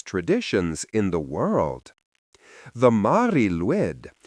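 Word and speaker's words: Mari Lwyd: This is the Mari Luid, one of the most haunting and peculiar Christmas traditions in the world. The Mari Luid pronounced roughly as Mari Luid translates to either gray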